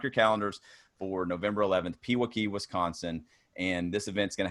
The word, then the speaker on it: Pewaukee: Allison actually had to send me an email and spell out Pewaukee phonetically, so I'm here in Knoxville, Tennessee, and we were just joking around that the more vowels in a word, us Southerners kind of get lazy with that.